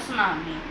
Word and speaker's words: tsunami: पे भी होता है यहां पे सुनामी में 30 साइलेंट होता है और हम फिर उसको बोलते हैं सुनामी पर इसकी स्पेलिंग और